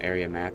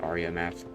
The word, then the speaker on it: Aria Math: I put on Area Math, and I was like, I think it's pronounced Aria Math.